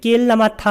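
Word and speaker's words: kilamatha: 그 다음에 낄라마타 할 때 여기 타를 길게 발음한 이유는 낄라마타하고 그 다음에 아누요가 이 두 가지를 쓴 뒤 결합한 것인데 이 낄라마타라는 것은 피곤함이란 뜻이에요.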